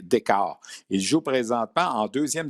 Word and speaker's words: Dichow: Ça s'écrit D-I-C-H-O-W, mais il faut prononcer Decker.